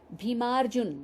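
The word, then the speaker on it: भीमार्जुन: बनेगा न या नई बीमा जून देखने में एक शब्द ग रहा है लेकिन उच्चारण पर ध्यान दें बीमा जून बीमा जून भीम और अर्जुन यहां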